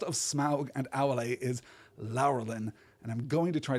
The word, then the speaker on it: Laurelin: and laurelin pause here lelin lelin is what it should be and I'm not generally going to be much of a stickler about pronunciation but it occurred to me that it should be lelin and I double checked